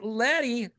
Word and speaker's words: Leddy: Uh, we got Jason and this week we've got our buddy Lety on to talk lady.